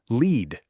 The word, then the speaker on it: lead: Just look at the word L-E-A-D. If I say, please lead the way, I'm pronouncing it lead. But if I'm talking about what's inside an old pencil, that's lead.